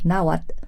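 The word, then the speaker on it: Náhuatl: quitaron la TL de Nawatle, ¿no? E que por cierto, si estuviera aquí nuestro querido maestro de Naatle, nos regañaría porque ni siquiera eso se pronuncia así, sino es como una explosión Nawat.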